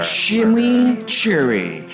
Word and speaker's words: chimichurri: Chimichurri. That's how you pronounce it.